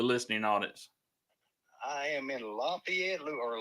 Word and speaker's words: Lafayette: I am in Lafayette, or let me say it like they say it, Lafayette, Louisiana. Lafayette. Oh, so that's just like some people say New Orleans, but it's not New Orleans, it's New Orleans.